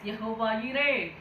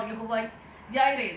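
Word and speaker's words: Jehovah Jireh: Yes, Yehovah Yireh, or Yehovah Jireh. There are two pronunciations.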